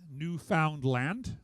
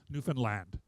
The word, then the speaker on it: Newfoundland: And don't say Newfoundland. It's not three separate, it's all rolled together. And in fact, the emphasis is upon the last syllable, Newfoundland.